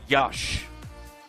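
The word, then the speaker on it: Iași: and from their six teams move on to Yash uh which is spelled i-a-s-i and that's where they'll be battling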